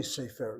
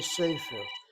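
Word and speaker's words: סֵפֶר: Well, most probably you'll accent the last syllable, sefer. Actually, people don't say sefer. They say sefer. They hit that first syllable.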